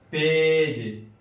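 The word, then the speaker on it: page: پیج، دیکھیے جی کے بعد یہاں ای ہے تو تلفظ جیم ہوا.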